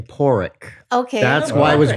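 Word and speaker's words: Pádraic: believe that that that Patrick am I saying his name right Patrick I'm almost going to that donkey well they just pronounced it in the movie they were saying poric okay that's why it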